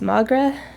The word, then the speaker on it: Magra: Landrew asks how to pronounce Magra. Magra? Magra, yeah. Think of him like a Moogle.